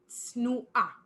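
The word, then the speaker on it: צנועה: So masculine would be tsanua, tsanua, and feminine would be tsnua, tsnua. So again, it's the tzadik sound, like pizza. Tsnua.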